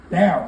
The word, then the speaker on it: Daryl: actually his name Daryl you have to say it like that it's an accent thing Daryl I am in he